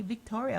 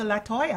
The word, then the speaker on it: Latoya: Like I've I've heard people call me Victoria. Like how close is Victoria to Latoya?